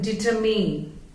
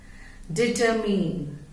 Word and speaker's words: determine: बट जब उसके ये वर्ड बन गया, उसको माइंड करके नहीं प्रोनाउंस करेंगे हम. डिटरमीन, डिटरमीन, डिटरमीन.